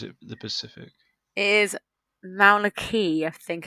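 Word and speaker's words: Mauna Kea: the or is it the Pacific it is Mauna key I think it's uh pronounced um and it is three quarters of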